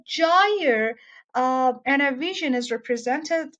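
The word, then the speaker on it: gyre: In that book, he's written that you have to pronounce it with an emphasis of the word, of the sound J. Jaya.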